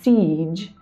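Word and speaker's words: Sige: The next card that I pulled in terms of messages that the universe wants to give you is sig or I believe siege is the correct pronunciation.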